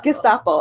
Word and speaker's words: Gestapo: the always say this wrong just Oppo just Gestapo I know what is a soup and one